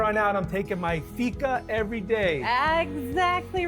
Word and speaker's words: Fika: From here on out, I'm taking my Fika every day.